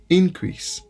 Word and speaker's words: increase: Règle générale l'a dit. Accent l'a tombé sous premier syllabe depuis le c'est un non. Et l'a tombé sous deuxième syllabe depuis le c'est un verbe. On garde quelques exemples. Nous gain increase. Lorsque c'est un nom, nous dit increase.